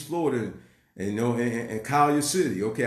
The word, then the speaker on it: Collier City: And, you know, and Collier City, okay? I know they call it Kai City, okay? That's not the way it's spelled, but it's all good.